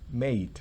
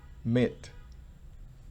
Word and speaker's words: mate: Y note que cuando hay cualquiera que sea roommate, playmate, schoolmate, bedmate, housemate, todas ellas tienen el mate, y el mate se pronuncia definitivamente mate, no mit.